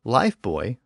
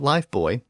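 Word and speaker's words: Lifebuoy: some very specific ways the soap brand life boy originated in England and came to the US with its original pronunciation even in the US it was called life boy even though it was spelled buo Y and clearly referred to the maritime object not a small child now I was fascinated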